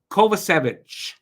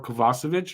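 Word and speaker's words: Kovacevic: the move next up Jonathan kovich or kovasovic if you want to say it properly um they picked him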